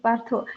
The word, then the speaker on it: Partho: So many days I used to call you Partha and you never corrected me because I just see the spelling and I pronounce, right?